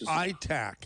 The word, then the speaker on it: ETAC: I would pronounce it ITAC instead of ETAC, because people might think it starts with E instead of I.